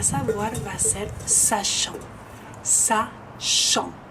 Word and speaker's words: sachant: Y para savoir va a ser sachant, sachant. Acuérdense que el CH es sh, yang, nasal, T no se pronuncia, sachant.